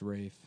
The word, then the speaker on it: Ralph: It's pronounced Rafe. But it's spelled like Ralph.